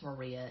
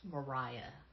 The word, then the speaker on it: Maria: that it's not pronounced Maria it's pronounced Mariah that is my chief complaint with this book it looks like Maria but she points out that it's actually pronounced Mariah that's some [ __